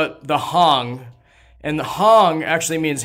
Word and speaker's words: hang: in Switzerland and it's called the Hong they spell it like h-a-n-g like like you're hanging out right it hang people make a lot